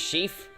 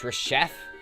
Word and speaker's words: Reshef: or whatever I say firstly I say it was chief but I've heard somewhere it's reshef so I made like